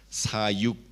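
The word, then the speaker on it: 사육: Ministrar, ¿cómo se pronuncia? Sayok. Así, sayok. Y criar los animales. ¿Cómo se pronuncia? Sayuk. Similar, ¿no? Say. Sayuk. puede distinguir sayok sayuk.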